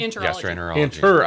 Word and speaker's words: gastroenterology: Enterology? Gastroenterology. I left the R off.